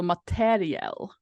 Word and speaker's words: materiel: English word that is EL at the end, so materiel, basically, if you were going to pronounce it.